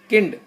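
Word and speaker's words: Kind: D Frau दस किंड, किंड last में डी जो होता है ना उसकी आवाज टा निकलती है, दस किंड, दस किंड।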